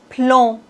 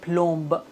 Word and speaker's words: plomb: En général, ces consones ne se prononce pas B comme plomb. On doit pas dire plombe. Non.